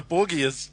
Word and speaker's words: Borgia: It's the Borgias. How do you say it? The Borgias. That sounds like a bad guy. It sounds like a bad guy from Doctor Who. No, it's the Borgia. Oh, the Borgia.